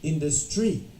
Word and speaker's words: industry: think it should be industry no all right so the correct answer should be industry the stress is on the in okay if you say